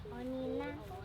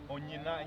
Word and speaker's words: Onyina: Onina? Onyina. Are you serious? Ago. Where you Onyina? Onina? Onyina. How do you spell it?